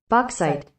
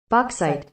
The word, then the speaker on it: bauxite: they have a pronunciation can you teach me how to say it say it bauxite I was saying it right bauxite yeah bauxite killing it